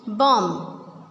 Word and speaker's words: bomb: We will not pronounce B in all of these words.